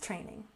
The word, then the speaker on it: training: And strength training. Don't forget to put your tongue between your teeth for the TH sound. Strength, strength, training. Emphasize the first syllable.